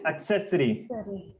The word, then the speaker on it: accessory: to pronounce yes accessory it is accessory focus on the sound right now it is not ACC it isound accessory all